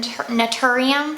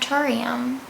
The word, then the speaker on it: Naturium: going to talk about some naturium products that's how you say it yes okay it's not tourium okay yeah that's how